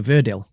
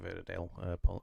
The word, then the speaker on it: Verdi: Sweet Dreams of Joy from Viva Verdil. and Train Dreams from Train Dreams. So none of us picked Sweet Dreams of Joy from Viva Verdi, not Viva Verdale. Apologies for my mispronunciation on that VT there.